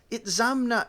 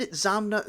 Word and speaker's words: Itzamna: This does not explain the last syllable na, which is always strongly accented. It is said that Itzamna spoke of himself only